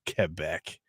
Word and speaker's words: Quebec: Quebec. It's pronounced Quebec. We're in Wiggins, America. It's pronounced however you want.